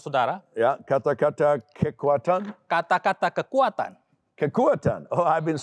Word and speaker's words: kekuatan: Kata-kata kekuatan.